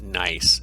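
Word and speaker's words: gneiss: this image of this metamorphic rock called nice it's pronounced that way and then once the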